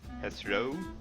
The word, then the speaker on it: Heathrow: In my opinion, the stress should be in the first syllable. How then? Heathrow.